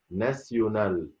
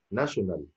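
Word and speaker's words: nationale: ادي لها نطقها شويه، زي ما اقول كلمه ناسيونال، ناشونال، ناشونال انطقها ناسيونال. اكسيون، مش اكسن، لا مش اكشن، لا اكسيون.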